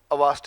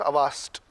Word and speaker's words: Auerstedt: Avast, A-U-E-R-S-T-E-D-T. Avast. Auerstedt is written as Auerstedt, pronounced as Avast.